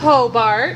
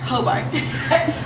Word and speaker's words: Hobart: How do I pronounce it? Hobart. Hobart.